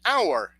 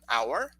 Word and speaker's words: hour: we have our and our the possessive pronoun hour and hour that is 60 minutes okay one hour all right same pronunciation as well guys same pronunciation very important okay lucy yeah